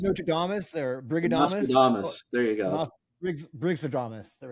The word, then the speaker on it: Nostradamus: Oh, Nostradamus.